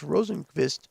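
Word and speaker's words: Rosenqvist: I'm just Moses says you have that Swedish pronunciation with you Larry you pronounce fili Felix rosenkvist very good thank you the first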